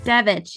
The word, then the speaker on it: Devich: Devich, yes.